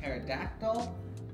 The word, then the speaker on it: Pterodactyl: Oh, that's a combination of my Mosasaur, Pterodactyl, and Ankylosaur, who I call MTA. The reason why I didn't put the P in there, because the P is silent.